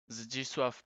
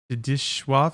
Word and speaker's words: Zdzisław: Zdzisław Beksiński. Zdzisław. Wait. Zdzisław. It's almost like an S H.